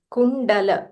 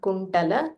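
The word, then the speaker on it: कुंडल: So kundala. So not kuntala, kundala. Okay. Kundala. Like Yeah. same in Tamil. Okay. In Tamil, we only have ta, so we might say kuntala, but Okay. the pronunciation is kundala.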